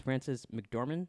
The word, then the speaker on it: Frances McDormand: I really like the opening, like it has God talking about it, which it's Frances McDormand.